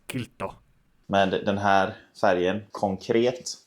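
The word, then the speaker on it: Kiilto: Som uttalas kilto.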